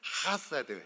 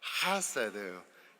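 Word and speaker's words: חסד: 원어민 발음으로 한번 해보겠습니다 할 때 약간 후음 그러니까 약간은 가래 끓는듯한 소리가 좀 나셔야 돼요 하사드 해야 되는데 한번 해 볼까요 하사드 예 휴지가 필요한 분들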